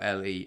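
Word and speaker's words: Leigh: definition there yeah well we're not arguing over the um spelling of the word we're talking about the pronunciation so yeah but yeah I know it's spelled l e i g h just another Quirk of the of the English language really um but yeah Le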